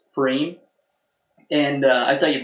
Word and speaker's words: pFriem: know that like I looked up how to pronounce frame and I thought you'd like this go on